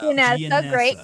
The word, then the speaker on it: Gianessa: Yeah. Gianessa. Great. Love that name. Hard G.